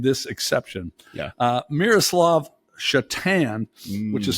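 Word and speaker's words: Šatan: a I made this exception yeah uh Miroslav chatan which is spelled SA T yes I do have a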